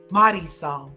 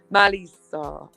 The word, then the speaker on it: Marisol: I want to say it nice with a good accent, but I can't do it. No, like the proper way to pronounce it. Marisol. Yes, Marisol. Okay, it's because I said it very gringa.